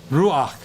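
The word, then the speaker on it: רוּחַ: no try it again ruach yeah yeah another rock this is another furtive Patak where the the Pathak beneath the head is pronounced before so it's going to be r-u-a-c-h Rock and you know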